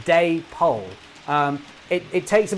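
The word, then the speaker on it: Dapol: been corrected on this apparently it is pronounce day Poole because it's an amalgamation of I hope I'm getting this right uh David and Polly so it's Day pole um it it takes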